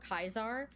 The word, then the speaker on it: Caesar: the way they pronounce Caesar or kaisar uh just by the way they speak Latin uh if they speak actual proper classical Latin uh with K's and uh saying W instead